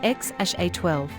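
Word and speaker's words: X Æ A-12: names exodox Idol and xaa12 pronounced as x-a-12 and given his quest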